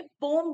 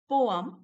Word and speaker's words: poem: बहुत सारे लोगों को मैंने पोम बोलते हुए सुना है, पहले पोयम बोलते थे और ये नया चला है पोम। तो ये बिल्कुल सही प्रोनाउंसिएशन नहीं है बेटा, तो आप भी प्लीज ये पोम बोलने की जो आदत है ना उसे छोड़ दो। इट इज पोअम या पोइम, करेक्ट।